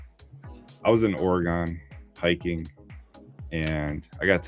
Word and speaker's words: Oregon: Terra or Egon. I have no idea how to say it. I'm not from there. So, Oregon, like the Oregon Trail.